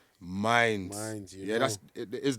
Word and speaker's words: Mindz: And it's not, and you don't pronounce, and you don't write in Minds, it's Mindz.